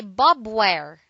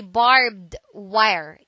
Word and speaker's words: barbed wire: word is barbed wire don't say Bob where do say barbed wire it is a noun